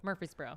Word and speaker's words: Murfreesboro: do you say Murfreesboro Murfreesboro Murfreesboro yes but everyone leaves out the other r yes it's like February it kind of right